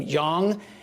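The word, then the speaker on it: Jeong: show's judges uh ken i believe he pronounced his last name young and robin thicke stormed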